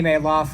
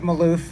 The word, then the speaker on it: Malouf: my name is mayloff i am the libertarian candidate for oh that's right looks like maloof it's pronounced mail off in my family um candidate for u.s